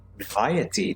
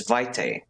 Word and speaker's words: vitae: Vitae, that's how you pronounce it. Always pronounce it as vitae, or something like that.